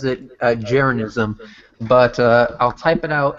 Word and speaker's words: Jeranism: He pronounces it Jeranism, but I'll type it out in the side, and he has video after video Of why the Earth is flat.